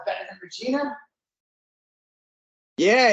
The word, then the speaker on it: Regina: They kept saying the name of the band or the name of the town rhymes with fun. It rhymes with fun. I'm like, it's Regina.